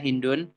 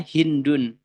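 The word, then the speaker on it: هند: Berarti kita bacanya Hindun. Akan tetapi di sebagian ulama lain, di di sana juga ada perbedaan. Mereka berkata Hindun itu adalah isim ghairu munsharif. Kenapa? Karena dia nama perempuan. Maka membacanya adalah Hindu.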